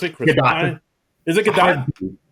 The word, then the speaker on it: Gadot: the the book or the play Waiting for GDAU as sort of a uh a pun, a play on her often mispronounced last name, but it's GDA.